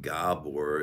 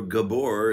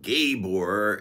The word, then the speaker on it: Gabor: is s Gabor pronounce it gobbler if you're Hungarian or Gabor if you're English but not Gabor if you're stupid I'm the founder of